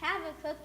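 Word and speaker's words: Habakkuk: year you L # is pronounced hav a cook # move on oh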